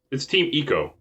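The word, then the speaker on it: Team Ico: They actually pronounced it? Well, it's Team Eco, and I've heard, I looked up footage also to make sure that that's what they said.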